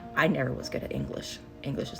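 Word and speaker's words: Eilish: I want to say Billy Isish, but she's like, "It's English is mom, it's English.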